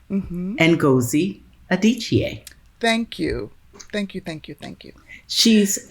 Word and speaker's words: Adichie: Ngozi Adichie.